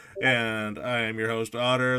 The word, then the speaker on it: Otter: And I am your host, Otter. The T is silent.